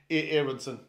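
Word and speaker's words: Aaronson: got to keep an eye on is Brendan arenson now I know it's pronounced arenson but it's two ears in front it's e erinson um he's got two goals and he's got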